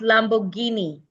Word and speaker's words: Lamborghini: This is pronounced Lamborghini. Lamborghini.